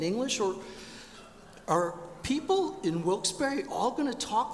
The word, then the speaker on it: Wilkes-Barre: His name, by the way, was Isaac Barre. He was a Frenchman. It should be pronounced Wilkes-Barre.